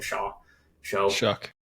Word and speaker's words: Shough: I don't know how to say his last name. Shuck. Wow, way off. It's like spelled SHOUGH, isn't it? Yeah. Yeah. Okay. It is. It shouldn't be that, but that's what they say.